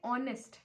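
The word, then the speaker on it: honest: तो एच के साथ तो अ आना चाहिए, अ ऑनेस्ट मैन, लेकिन एन क्यों लगा, क्योंकि हमने जब इसे प्रोनाउंस किया तो हमें ऑनेस्ट, एच यहाँ पे साइलेंट है, हिंदी में ट्रांसलेट करो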